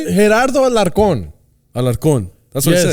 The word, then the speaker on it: Alarcon: Gerardo Alarcon.